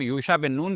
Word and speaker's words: یوشع بن نون: کے نام سے ہے، اور ہم یوشع بن نون کہتے ہیں، یہ عربی تلفظ ہے، اور وہاں پر